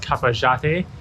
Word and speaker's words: Cafayate: Interesting thing is that over here they pronounce the Y as a J. So Cafayate is pronounced Cafayate, and I had a dessert called cajote, which is spelled as coyote.